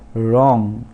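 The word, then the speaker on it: wrong: उसके बाद रॉन्ग, यहाँ पर भी फर्स्ट लेटर W वो साइलेंट है।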